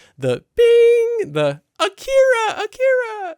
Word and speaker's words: Akira: It's from the original dub, because in this they pronounce it Akira, which is the more correct pronunciation.